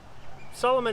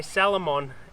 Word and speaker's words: Salomon: so there you go one pair of um solomon x ultra four hiking boots i should say salomon x ultra four hiking boots are gonna make sure i pronounce it correctly nice and clean ready